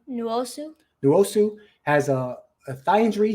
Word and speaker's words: Nwosu: Uchenna Nwosu. Very good. Say his name again, his last name? Nwosu.